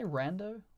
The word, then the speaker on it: Rando: eyes or Zappa Rando the Americans say Rando like short for random set a thing longtime